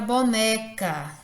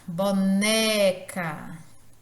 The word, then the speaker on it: boneca: A palavra boneca, boneca, esse né, ele é pronunciado com maior intensidade.